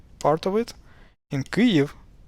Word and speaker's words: Kyiv: But pronunciation-wise, it's the same as K, Y, I, V, Kyiv.